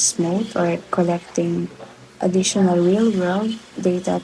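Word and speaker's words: SMOTE: This can be mitigated by generating synthetic data using techniques like SMOT, or it should pronounce smooth, or collecting additional real-world data to ensure balanced representation.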